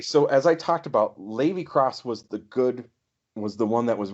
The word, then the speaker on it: Lave Cross: I pronounce it Lave Cross, but it could be Levy. Okay. So who do you have for this role? Okay, so as I talked about, Levy Cross was the one that